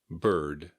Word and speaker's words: bird: Bird, B-I-R-D. Be sure to keep the D on the end.